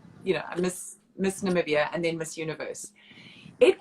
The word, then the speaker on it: Namibia: we're still funny that people can't pronounce namibia how is that how is that pronounced so namibia oh it was funny at the miss universe pageant because dick clark who was the host he kept saying nambia miss zambia which is